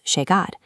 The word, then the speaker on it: llegar: In Buenos Aires, both the double L and the letter Y are pronounced with an aggressive SH sound. "Calle" becomes "kashe". This is an absolute rule applied by everyone in the city. "Yo" becomes "sho". "Llegar" becomes "shegar".